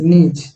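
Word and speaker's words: gneiss: तो यहाँ शुरू वाला जो जी है वो साइलेंट है, तो साइलेंट है तो उसको नहीं बोलेंगे, बोलेंगे NIESS, नीज, ठीक है।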